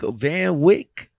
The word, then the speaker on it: Van Wyk: so we're so uh so how do you pronounce the company van wyk van wyck right van like it's a family owned has